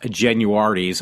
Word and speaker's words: Genuardi's: parents like to call apparently that's the correct way to say it because there was some talk show local like mine that actually said these guys to talk about the local reminiscing about the past they actually did say it is pronounced genuardi's I actually say should